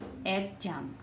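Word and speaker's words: exam: जे इ को एग ज आ में जाम एग जाम क्या बन गया एक्स को क्या पढ़ रहे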